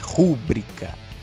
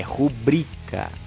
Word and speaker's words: rubricar: é gratuito é gratuito não é rubricar é rubricar parece errado mas é o certo cartomancia recebo inaudito um